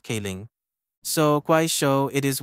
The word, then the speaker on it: Kling: so clling AI video actually in Chinese is pronounced King so Qui show it